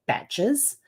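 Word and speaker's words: bach: New Zealand we have batches they're spelled b a c h um but pronounced batch like b a t c and those are um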